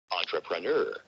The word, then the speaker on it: entrepreneur: listen to it listen entrepreneur entrepreneur you hear it girls although that starts with e but it's entrepreneur okay so because sometimes i